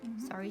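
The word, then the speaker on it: sari: call it a screen i guess sorry it's spelled s-a-r-i sorry silk and that's what these are they give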